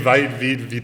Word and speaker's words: Vite: guys who works on Vitest, or I think it's Vitest, and however you say it. Vite. I did talk to Evan. He said it was Vite because it's a French word.